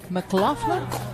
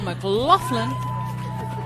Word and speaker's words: McLaughlin: go take a minute McLaughlin McLaughlin three syllables never met her before Michael Laughlin watching bronze medal